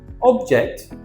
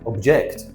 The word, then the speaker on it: object: object and object. It's a different pronunciation. An object is a thing. Anything is an object. A pen, a pencil, a camera, a microphone. An object. To object is to disagree with someone.